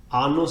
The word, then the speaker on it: anus: Anus is also a Latin word, of course, but anus has a long R sound at the beginning. The short R is annus, meaning old woman.